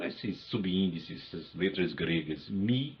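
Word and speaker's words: μ: Esse esse G minúsculo que aparece aí com esses subíndices, essas letras gregas mi e ni, né? Eu pronuncio mi ni em português.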